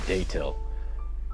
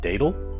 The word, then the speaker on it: Datil: Today is letter D for Datil. I had somebody else tell me that most people pronounce it Datil, I guess, but there's a T in it, so I'm going to say Datil.